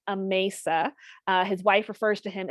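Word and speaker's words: Amasa: here's an introduction a mesa and it is pronounced a mesa his wife refers to him as mace in letters from the time so that's how i remember it so it's a mesa campbell and he was married to grace campbell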